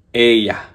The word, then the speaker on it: Oia: Sweet boat na yun na papunta sa Santorini at pupuntahan namin unang-una yung Eya. Eya ang pronunciation pero ang spelling niya o I a ba iba yung mga pronunciation nila dito eh.